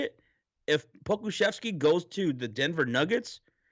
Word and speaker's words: Pokushevsky: Posavelsky, right? Alexei, say Alexei. Alexei Pokushevsky. Oh No, my. no, not even close. Say Poku Shevsky. Shesky. Shevsky. Poku. Pokushevsky. Anyway, God damn, I cannot say his name.